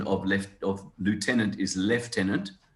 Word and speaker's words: lieutenant: left of lieutenant is lieutenant that's the english way it's the americans and south africans who call it lieutenant and yeah it's a